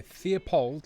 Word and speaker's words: Theobald: Firefly, Theopold, like Leopold, or Theobald? Tim, clarify, please. Theobald. B-A-L-D. Theobald.